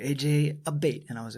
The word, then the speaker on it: Abate: And it's pronounced Abate, which Abate.